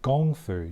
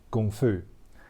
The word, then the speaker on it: kung fu: spelling is more like gongfu G oh and G it's the same as Qi Gong Gong foo and the word itself actually means a lot of hard work so basically kung foo means martial arts that